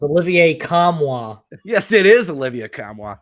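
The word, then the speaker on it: Olivier Nkamhoua: want me to hit it for you it's Olivier kamwa yes it is Olivia kamwa all right so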